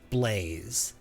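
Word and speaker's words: Blaise: Silus Blaze and Cecilia Blaze, but spelled B L A I S E, but pronounced Blaze.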